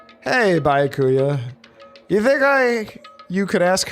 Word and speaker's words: Byakuya: Bakala! It's Byakuya. I have severely been mispronouncing your name.